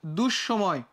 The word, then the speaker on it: দুঃসময়: যেমন দেখো দুঃসময়, দুঃসময়, এখানে যে বিসর্গ ছিল না, বিসর্গ কার আগে আছে দেখো তো, দন্তস্বর আগে আছে। উচ্চারণের ক্ষেত্রে কি হয়েছে দেখো, দুটা হয়ে গেছে। এখানে স ছিল হচ্ছে একটা, এখানে স হয়ে গেছে দুইটা।